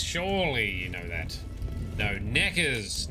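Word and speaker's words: Nekker: Every time you say Neckers, I think you're saying Knickers, but too embarrassed to say it properly, so you say Neckers. I am not embarrassed to say things. Surely you know that. No, Neckers, not knickers.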